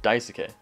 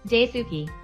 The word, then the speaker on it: Daisuke: Amanda Moss, Paul Nicotin, Vincent Chow, Daisuke Matsuda. Following my previous video on the mostly complete lore of Entry Points, some people started bullying how I pronounced Daisuke.